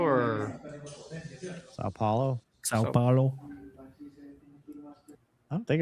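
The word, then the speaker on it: São Paulo: Uh were they at San San Paulo or Sao Paulo?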